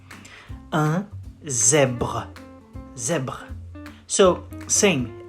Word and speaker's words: zèbre: You say un zèbre. Un zèbre. Zèbre. So, same. Ends with an E, which is silent. So you don't pronounce it.